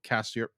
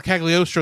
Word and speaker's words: Cagliostro: from Lupin the Third, Castle of Castiel. How do you pronounce it? Well, Castle Cagliostro is what you're trying to say, Yes.